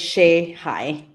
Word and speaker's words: Shehaj: My last name is pronounced as Shai. Shhai.